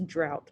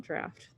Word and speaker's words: draught: I guess it's drought, not draft. They're spelled the same though.